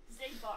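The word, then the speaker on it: Xigbar: Half the Organization 13 members start with an X and are pronounced Z. Yeah. Zemnis, Zaldin, Zigbar.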